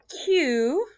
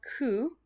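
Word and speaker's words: 九: hachi is okay and then q sometimes pronounced ku we're going to do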